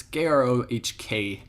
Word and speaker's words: Grohk: Now we go to Grok, or however you actually say his name. It's Grohk.